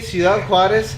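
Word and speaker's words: Ciudad Juárez: I say Ciudad Juarez. That's the correct pronunciation, and they're yeah. And then I go Juarez. Oh, I know what it is. Hey, boy, you speak American.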